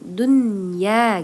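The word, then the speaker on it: دنيا: Idgham bunna karena ada nun mati bertemu dengan huruf ya maka bacanya tidak dingung Dunya gitu aja ya karena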